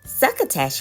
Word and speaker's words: Suckatash: Suckatash rhymes with bash.